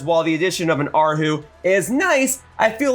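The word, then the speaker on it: erhu: would be pronounced H who but it's actually pronounced aru and I brought this up in the previous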